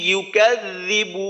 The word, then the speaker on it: يكذب: أرأيت الذي يكذب بالدين আচ্ছা আচ্ছা সাইদুল ভাই ইউ এই উচ্চারণটা কিন্তু একটু লম্বা হয়ে গেছে, ইউ কাযযিবু, তো ইউ যেন লম্বা না হয়, ইউ কাযযিবু তাড়াতাড়ি, এখানে কোনো টান নেই, ইউ কাযযিবু যেন ইউ কাযযিবু এমন না হয়।